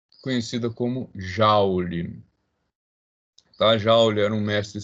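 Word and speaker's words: joule: = Newton x met ja escocês escreve-se J mas a pronúncia usual é ja tá dúvida pessoal vamos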